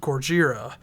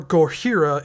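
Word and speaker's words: Gojira: of course I am talking about gorjira or gorhira if that's the way you want to pronounce it uh I think you've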